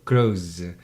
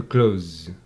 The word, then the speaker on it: clothes: She puts on her clothes. But that is spoken English. You see? Well, now I think that for you would be better maybe first learn to pronounce the standard form.